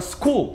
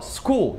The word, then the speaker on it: school: E pra finalizar, o H, muitas vezes ele não é pronunciado em alguns casos depois do C, do G ou do R. Por exemplo, a palavra school, que é muito famoso, escola, school. Repara, depois o H ele simplesmente é ignorado, é o som de S-C-O-O-L.